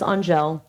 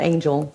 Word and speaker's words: Anjel: name is anjel um it's not Angel which because it makes me laugh and I say this because um my name is not easily pronounced um it looks like it would just be angel with a J and when you type